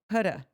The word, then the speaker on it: Huda: When she came, she was like, my name's Huda. Like, shoulda, woulda, coulda. Huda.